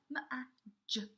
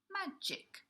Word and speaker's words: magic: giraffe now we've got magic watch out for where we get the sound magic see the jet sound it's from this G letter but we're saying it with the J sound magic magic okay and then we've